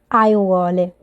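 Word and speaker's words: aiuole: have to say Gardens you would say eyewale so as you can hear there is also the vowel a eye wall so this is a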